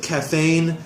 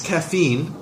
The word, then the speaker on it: caffeine: have kids so um you said caffeine it's caffeine just pronunciation wise with an e sound instead of an 8th down you said on the